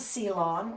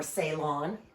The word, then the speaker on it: Ceylon: can just start with this is seon or salon however you want to pronounce it and pretty much the